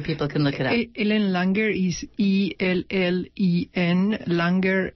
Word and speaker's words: Ellen Langer: Ellen Langer is ELLEN, Langer, L...